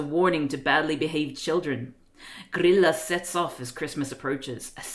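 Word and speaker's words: Grýla: The way you pronounce her name sounds like BBQ and barbecue in Swedish. Grilla.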